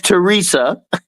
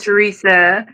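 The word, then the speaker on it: Theresa: I get okay Miss Teresa uh what's going on in your spiritual journey dear it said the H is silent but I'm not oh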